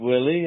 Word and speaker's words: Willaye: And it's actually Willie. It's a funny spelling, but you can just pronounce it Willy.